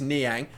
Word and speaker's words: Nang: yet it is Nang I've been even tossing and turning as to what his pronunciation actually is but now I've come to the conclusion it is Nang we'll continue on still